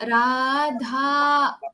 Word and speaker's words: Radha: So what when you get that, you have to stretch out the song. Radha, okay, Madhava, Yashoda, okay, Yamuna Tira. So it's dragging out the words, letter.